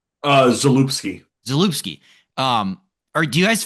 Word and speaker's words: Zalupski: the Sternberg era to the, how do you pronounce his last name? Zapolsky? Zalupski.